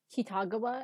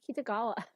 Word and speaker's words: Kitagawa: Who it bothers me the most with On's surname and Yusuke's, where it's like Kitagawa, and it's like that's not. You're saying the correct syllables, but it's all wrong. It should be Kitagawa.